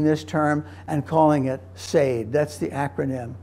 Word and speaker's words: SEID: And so they suggested using this term and calling it SEID. That's the acronym, S-E-I-D, pronounced SEID.